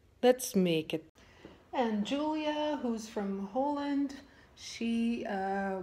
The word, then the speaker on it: Julia: let's make it and Julia who's from Holland she uh maybe I mispronounced that name as well we'll present the sauce Hollandaise hi Lisa I am Yulia not Julia I will show